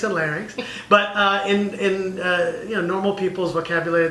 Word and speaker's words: larynx: Seuss then there's certainly a lot of people pronounce them Lennox and fairness and I always make sure to correct them I pharynx and larynx but in normal people's vocabulary that just means